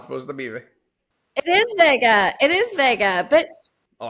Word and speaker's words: Vega: And the spelling is V-E-G-A. So do you pronounce that Vega, like vegan? Right. Veja, like vegetarian, right. Or Vega, like the 70s car?